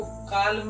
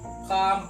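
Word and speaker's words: calm: एल आ गया तो यहां पर एल साइलेंट है तो इसको कालम नहीं काम पढ़ेंगे काम एल साइलेंट रहेगा एंड डी वाला देखते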